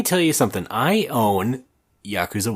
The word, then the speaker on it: Yakuza: Well, I have been playing Yakooza Zedro. Zedro? I was just double mispronouncing there.